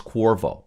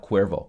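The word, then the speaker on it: Qorvo: think I'm mispronouncing and I think it's Corvo kohrville not Cuervo Cuervo is tequila company Corvo click the link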